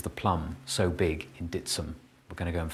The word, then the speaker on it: Dittisham: to the Village of ditam or dsum as it's pronounced by locals to find out why